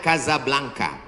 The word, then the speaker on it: Casablanca: Ibu kotanya tulisannya Casablanca. Cara bacanya Casablanca.